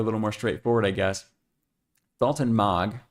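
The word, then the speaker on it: Dalton Maag: Daltton Mog. I looked up how to say it this time. I didn't say Daltton Mag. Daltton Mog.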